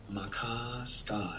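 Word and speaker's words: Maka Ska: Makaska.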